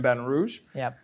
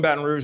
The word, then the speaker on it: Baton Rouge: orleans or baton rouge i'm not from baton rouge i pronounce it baton rouge people from here pronounce